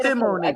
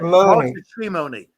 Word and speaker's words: Shimony: Is it Simony or Shimony? You're Am I saying it wrong? Shimony? Shimony. I would say Simony, but he said Shimony. It's S-H, is it?